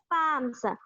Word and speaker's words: palm: Palms. What is meant by palm? Palm ante aracheyi. Okay. Here, L is considered as the silent letter.